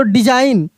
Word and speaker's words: design: तो डिजाइन, ASSIGN असाइन, क्या पढ़ेंगे?